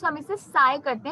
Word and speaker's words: psi: इसे हम साई बोलते हैं, ठीक है, प्रोनाउंस हम इसे साई करते हैं, P is silent, it's actually a pressure unit.